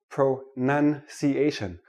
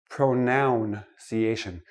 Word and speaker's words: pronunciation: we're looking at pronunciation let me start with this word pronunciation not pronounciation it is not a pronoun a pronoun is I